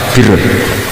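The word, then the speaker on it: بِرّ: Ya kalau di isim fa'ilnya umumnya guru-guru kita baca barin, tapi untuk masdarnya, untuk kebaikan bacanya apa? Birun. Nanti kamu protes, oh barun itu daratan Gus, kalau birun itu kebaikan. Aku itu macaku kamus luwes suwi, bocah kok sembrono.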